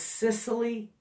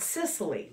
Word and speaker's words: Cicely: you who weren't sure how to pronounce her name her name is Cicely a Ella and yes to this family name not Sicily my daughter just loves